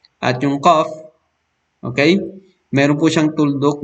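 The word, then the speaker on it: ق: Samantalang itong fa ay mas mababaw. Yung qaf mas malalim. At yung qaf, okay?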